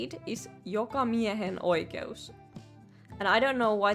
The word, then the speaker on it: jokamiehen oikeus: How you say it is jokamiehen oikeus. And I don't know why they spell it.